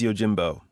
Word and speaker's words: Yojimbo: film uh titled yo is it Yojimbo it's Yojimbo yeah Yojimbo means body y Jimbo this The